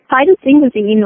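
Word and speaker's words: phytosphingosine: phytosphygmacine and how does it, and did I pronounce it correctly, and how does this help a pet skin? Yes, phytosphygmacine, or for obvious reasons we oftentimes refer to it as simple PS.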